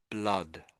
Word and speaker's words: blood: Um, so I I would I would suggest this the sound in the middle here is like sort of like a sort of an ah sound a blood.